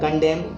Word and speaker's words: condemn: fetch, CATCH catch, EDGEH, CONDEMN N silent हो जाएगा कंडेम, COLUMN N silent हो